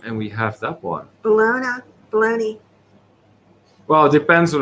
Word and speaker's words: Bologna: And if you pronounce it bologna, you're probably referring to the overly processed lunch meat that you can buy at Walmart.